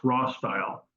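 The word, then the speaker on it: Rostyle: o being small and often pronounced raw style um Wheels again made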